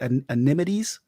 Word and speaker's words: anemone: How you say it? Anemones? Anemone. That.